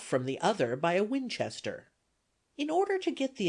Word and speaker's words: Winchester: neighborhood, you want to pronounce it with a very long drawl, and the accent on the second syllable.